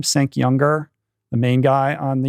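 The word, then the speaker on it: Cenk Uygur: Cenk Younger, the main guy on the Young Turks.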